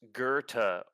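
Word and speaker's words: Goethe: It's typically pronounced Gerta or Gerta. It's Gerta.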